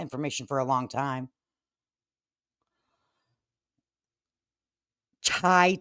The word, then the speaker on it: chai: Chai tea is pronounced like CH, like chicken, like chai, right?